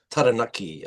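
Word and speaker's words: Taranaki: Well, it's obviously, you know, a beautiful, you know, morning sunrise landscape of Mount uh Tanaki. uh by the way is correct correct pronunciation.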